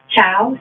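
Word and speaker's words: Chao: Chow, C-H-A-O. Mm-hmm. Yeah, you pronounced it right.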